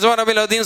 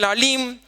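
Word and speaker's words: سبحان ربي العظيم: ஆனால் ஃபார்மாலிட்டிக்கு அரைச்சமாவை அரைக்கிறங்கிற சுப்ஹான ரப்பில் அதீம், சுப்ஹான ரப்பில் அதீம், சுப்ஹான ரப்பில் அஸீம், அது உச்சரிப்பு கூட சரி பண்ணாம சுப்ஹான ரப்பில் அலீம் இப்படி சொல்கிறோம்.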